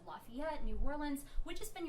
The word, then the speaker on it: Lafayette: and New Orleans and Lafayette. I always say that wrong. You pronounced it right. Okay, I did it right that time.